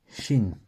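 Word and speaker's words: שׁ: différence de prononciation donc quand le point est à droite je prononce che comme dans le mot chat ou comme dans le mot shabbat quand le point est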